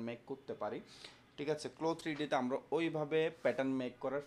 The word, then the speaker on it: CLO3D: ঠিক আছে, ক্লোথসের ক্লোটা উচ্চারণ হবে ক্লো 3D।